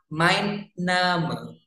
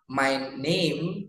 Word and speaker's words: mein Name: Jadi, mein Name itu memang artinya dalam bahasa Inggris juga my name, tapi cara bacanya kalau dalam bahasa Jerman adalah mein Name, bukan my name, bukan, tapi mein Name.